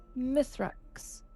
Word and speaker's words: Mythrax: devour you tell drew repeat after me miss Rex miss Rex miss Rex you would